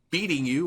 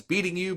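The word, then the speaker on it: BEATNGU: Uh the license plate on the truck reads beating you or b e a n b e a t n g u. Uh Darry pronounces it as beating you, but later I think we come to the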